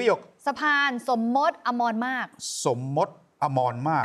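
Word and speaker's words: สมมตอมรมารค: ไม่ ใช่ แน่ นอน สะพาน นี้ อ่าน ว่า สะพาน สมมต อมร มาก อ่า สมม สมม มาก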